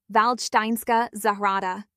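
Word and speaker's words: Valdštejnská zahrada: a Netflix period drama, Waldstein Garden, or as the locals say, Valsteinska Zahara.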